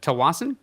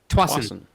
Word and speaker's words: Tsawwassen: to pronounce the city, is it Tawasin? Twasin. Really? It's just Twasin?